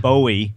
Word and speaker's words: Bowie: nails on a chalkboard for him I said Bowie Bowie knife Bo knife it's not it's not